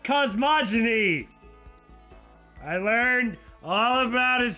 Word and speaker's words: cosmogony: Well then, why don't we have a heated discussion about cosmogony? It's pronounced cosmogony.